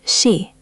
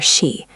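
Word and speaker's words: 씨: It's a sharp, short sound. Shi, not see or she.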